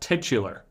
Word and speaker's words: titular: in the movie's titular song that's right it's pronounced titular meaning the song title is the same as